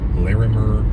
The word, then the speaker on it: Larimer: there was a criminal investigation conducted by the Larimer that's how you pronounce it County Sheriff's Office and that was